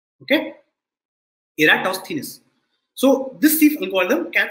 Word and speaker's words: Eratosthenes: sieve of electrostates and this is how you pronounce the name you say era toss thinness okay eratosthenes so this thief alcohol